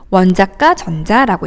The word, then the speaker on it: 원자가 전자: 원자가 전자 이렇게 읽지 않고요. 어떻게 읽는다고요? 원자가 전자라고 읽습니다.